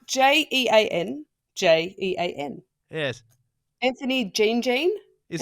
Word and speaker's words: Jean Jean: other way around and it's spelled j-o-h-n so it's clearly John John whereas this one spelled Jean Jean and it's it really